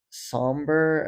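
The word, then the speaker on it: Sombr: So, some of his like older singles are on the album, but Somber, I think you're supposed to pronounce it.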